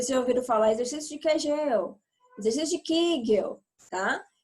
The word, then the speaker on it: Kegel: viu ou quer gelo os dois nomes as duas pronúncias estão corretas c se ouviram falar exercícios de kegel deixa de quem gel